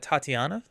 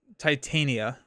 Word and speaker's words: Titania: Next up, we got Tatiana. Tit Titania. I've been saying her name wrong before my entire life.